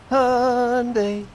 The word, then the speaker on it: Hyundai: It's pronounced Hyundai, like Sunday.